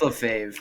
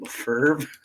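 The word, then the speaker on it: Lefebvre: I believe Evoc has said it's Lefevre, or maybe it's Lefevre, and I've also heard it pronounced Lefave. It's Lefave. I've gotten.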